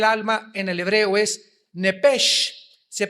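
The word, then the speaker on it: נפש: apúntalo ahí, el alma en el hebreo es nepesh, se pronuncia nepej, la CH en hebreo se pronuncia como J, nepesh, murió.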